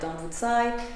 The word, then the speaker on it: Dambudzo: He also says that Dambudzo, which is often pronounced more like Dambudzai, in Zimbabwe is generally a name that is always given to women, to girls.